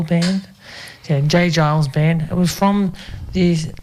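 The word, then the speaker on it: J. Geils: from 1980 by the J Gile Jay Giles band or J Giles. I don't know how you say it. Pronunciation. It's G E I L band. Yeah, J Giles band.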